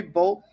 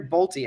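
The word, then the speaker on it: Bolte: grabbed that lot Henry bolt Henry Bolly I think his name is actually pronounced I was calling him bolt when his card got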